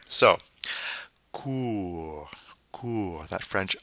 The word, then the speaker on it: court: Then we have court. Now notice that T is silent at the end of the word because there's no E forcing its pronunciation.